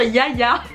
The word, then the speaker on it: Jaja: beaucoup de questions sur Yaya. ça s'écrit Jaja et je vous remets les adresses de toute façon en barre d'infos.